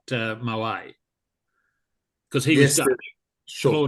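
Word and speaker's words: Moët: Before we actually started recording, we were talking about pronunciation, and John had lots of interesting things, but it's actually Moet, not Moet, because he was Dutch.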